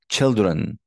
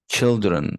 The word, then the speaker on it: children: primary primary first syllable number five children children first syllable retire retire you see